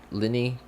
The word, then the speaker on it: Lyney: saw lit uh Lenny sorry not Lynette apparently it's pronounced Lenny that's what he said